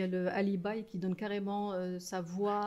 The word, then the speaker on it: alibi: Il y a le alibi qui donne carrément sa voix... Tu l'appelles toi alibi, tu prononces à l'anglaise.